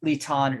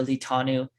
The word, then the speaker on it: Litan: So in Ugaritic, it's pronounced like Litan or Litanu, but in Hebrew, the vowels are different, but the consonants are the same.